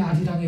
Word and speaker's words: 아리랑: 여기에 아리랑에 대한 무슨 답이 있지 않을까? 그렇게 고민을 하고 있는데 이게 문법적인 이유가 있는 거구나. 원 가사는 알리랑이구나. 알리랑 아라리오라 연음 법칙 때문에 아리랑 아라리오라고 발음을 하게 된 거구나.